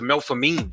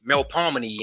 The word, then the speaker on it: Melpomene: Its former structure was the Melphamine, which is actually pronounced Melpomene and is documented as the Gus High Rise.